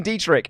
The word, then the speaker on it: Dietrich: from two Fridays ago the CH in my name is pronounced like the hissing sound at the top of the throat so you don't have